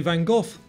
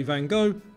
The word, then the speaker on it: Van Gogh: And we say Van Gogh, Americans say Van Gogh, and in Dutch it's something like Van Gogh.